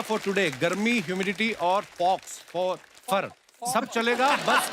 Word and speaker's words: faux: एक्स को pronounce ही नहीं करते। फॉक्स, Fofer. फोफा। तो एक्स नाम नहीं लेना उसका, ना, साइलेंट है वो।